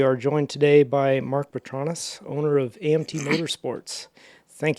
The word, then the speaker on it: Petronis: Petronis is the way I say it. Some say Petronis, but Petronis is correct, yep.